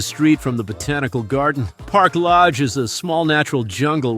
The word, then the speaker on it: Parque Lage: So I took the time to Google it, and this is how it's pronounced. Parque Lage, Parque Lage, And after this educational capsule, let's continue with the trip blog.